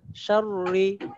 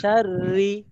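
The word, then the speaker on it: شرِّ: প্রথমটা ভুল পরেরটা সঠিক, শাররি ভুল শাররি সহি, মানে প্রথম শাররি, হ্যাঁ হ্যাঁ শাররি চিকন হবে, আর রি বললে মোটা হয়ে যাবে, তাই মোটা হবে না,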